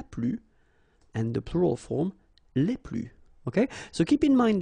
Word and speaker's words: les plus: and the plural form, les plus. Okay, so keep in mind that I don't pronounce this final S here, so we get le plus, la plus, les plus.